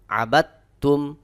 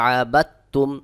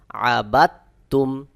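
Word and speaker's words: عَبَدْتُّمْ: যদি তাসদিদ থাকে তাহলে সাকিনওয়ালা হরফ উচ্চারণ হয় না বাদ হয়ে যায় তাসদিদ ওয়ালা হরফ কে উচ্চারণ করে পড়তে হয় যেমন আবাদতুম এখানে অনেকে বলে আবাদাতুম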